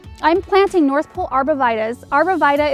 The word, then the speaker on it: Arborvitae: Arborvitae is the way we pronounce the name in my area. Arborvitae is another way I've heard it, which is probably proper, but I'm going with what I know here.